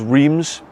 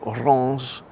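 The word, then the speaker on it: Reims: pronunciation of this because i thought it was reams how it's spelt in english but no in fact in french it's pronounced something like uranus which sounds completely different it's a bit like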